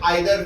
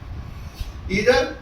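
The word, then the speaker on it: either: इधर भी इसको पढ़ते हैं, इधर कोई भी, इसका मतलब होता है कोई भी, नॉर्मल टर्म्स में आइदर भी बोलते हैं अक्सर लोग, लेकिन इसका एग्जैक्ट प्रोनाउंसिएशन इधर का मीन्स होता है कोई भी।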